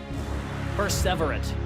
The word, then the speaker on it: Perseverate: Perseverate is how that one's pronounced.